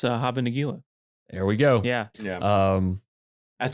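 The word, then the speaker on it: Hava Nagila: I can't pronounce this, but you guys sure can. Oh, it's Haba Nagila.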